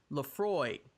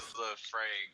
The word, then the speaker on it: Laphroaig: He asks him what his Earn want, and Earn says Lafroy, which is LAPHROAIG or IAG. I guess it's an expensive ass liquor because it is spelled expensively. Scotch. It's a Lafroig or something.